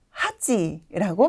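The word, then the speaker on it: 八: 팔이라는 한자인데요 혹시 기억나시나요네 한국어의 리을 받침으로 끝나는 한자들은 보통 일본어의 음독이 치나 스로 자주 마무리된다라고 말씀드렸어요 따라서 7은 시지 팔은 하찌라고 발음이 되고 있네요 자 발음해 볼까요 하찌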